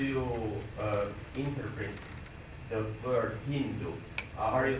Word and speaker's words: Hindu: India about 1000 A.D in their language they pronounce s as you know H son so they call that River Hindu and the line Beyond Hindustan and the called the Hindus so this is how